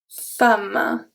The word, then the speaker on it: femme: And the last one is going to be E in the word, but it's going to be pronounced A. And there is one that you probably know. It's une femme.